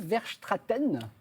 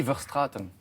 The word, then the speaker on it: Verstraeten: Alors, votre vrai nom, c'est Guy Verstraeten. C'est pas Verstraeten, mais c'est gentil d'essayer de le prononcer comme Ça se ça. prononce comment? C'est Guy Verstraeten.